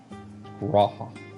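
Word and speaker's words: G'raha: So it's like has the G before the Raha. Graha.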